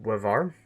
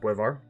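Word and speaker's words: Boisvert: But it's gonna be, I think it's pronounced Buevar. It's spelled like Biosvert, but I think it's pronounced Buevar.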